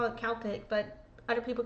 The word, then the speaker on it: Celtic: Well, in Ireland, typically we say Celtic with a K sound. We do say Celtic sometimes, like for the Glasgow Celtic soccer.